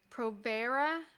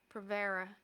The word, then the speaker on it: Provera: And most progesterone that's prescribed here is Provera. I think I'm pronouncing it right. Provera.